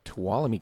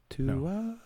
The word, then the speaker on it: Tuolumne: Tuolumne. Tuolumne. Do you pronounce the N? No.